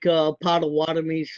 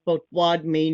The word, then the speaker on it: Potawatomi: That's kind of like Potawatomi's. Our name is Potawatomi, not Potawatomi, but Cherokee is Salagi, not Cherokee.